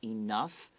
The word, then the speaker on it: enough: people will pronounce some people will pronounce enough enough enough these are both acceptable some people say enough some people say enough but all of these people will always make the gh sound an f sound okay enough it's not